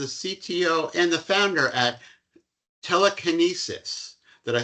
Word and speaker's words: TeleCANesis: He is the CTO and the founder at TeleCANesis.